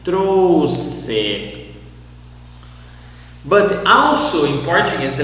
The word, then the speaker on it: trouxe: Trouxe, lixo, for example. But lixo it's an exception. But follow this idea. You need to pronounce as a S. Trouxe.